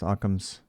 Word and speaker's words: OCMS: credential uh Merit system CMS Occam's pronounced Occam's um so example of a